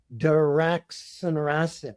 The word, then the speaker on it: daraxonrasib: So I actually looked it up, phonetic spelling and pronunciation. So daraxonrasib.